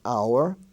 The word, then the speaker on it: hour: consonant you could say is silent in such words as our h-o-u-r like what hour is it we spell h o u r honor he's on the honor roll h-o-n-o-r honest h-o-n-e-s-t the H is silent there ghost g-h-o-s-t ghastly g-h-a-s-t-l-y